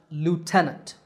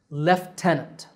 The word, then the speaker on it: lieutenant: american english it's pronounced lieutenant the stress is on te lieutenant lieutenant in british english the word sounds a little different lieutenant so the first syllable which is spelled l-i-e-u is pronounced lef i don't know why